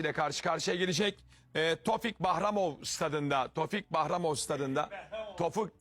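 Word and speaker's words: Tofiq Bəhramov: Tofik Bahramov. Tabii yok. Tofik Bahramov. Öyle diyorlar orada. Tofik Bahramov. Tevfik Behramoğlu. Tevfik Behramoğlu ama Tofik Bahramoğlu. Eee, Azerbaycanlı kardeşlerimiz, e, böyle telaffuz ediyorlar.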